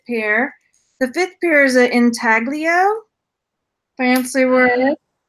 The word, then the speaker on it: intaglio: carved out one so I think it's if I'm saying it right intaglio I might not be saying it right you're saying it right and they've got